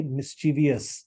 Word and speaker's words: mischievous: you pronounce it mischievous you tend to add an extra I which doesn't need to be there the word has two